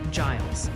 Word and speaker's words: Giles: Multiple viewers are saying Giles County, Tennessee is pronounced Giles.